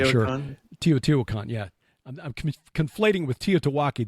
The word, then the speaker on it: Teotihuacan: build the megalithic sites like Teotihuacan, or not pronouncing it correctly, I'm sure. Teotihuacan, yeah.